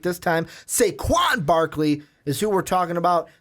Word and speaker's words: Saquon Barkley: got to say in the intro, said his name wrong, going to say it right this time, Saquon Barkley is who we're talking about.